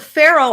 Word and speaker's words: Faroe: Also, there's the Faroe Islands in Scotland. They're spelled Faroe, but pronounced the same as the Egyptian pharaoh.